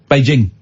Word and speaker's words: Beijing: Is that Beijing? It's a hard J. Beijing.